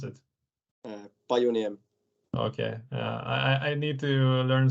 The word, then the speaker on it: Pajuniemi: Okay, how do you pronounce it? Pajuniemi.